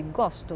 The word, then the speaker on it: gosto: Donc, la seule différence entre eu gosto et ele gostou, c'est vraiment où on met la syllabe forte. Donc, dans les présents avec j'ai, eu gosto, j'aime, eu gosto, la syllabe forte est l'avant-dernière.